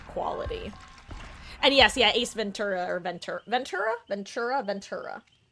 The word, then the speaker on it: Ventura: This is just a normal T."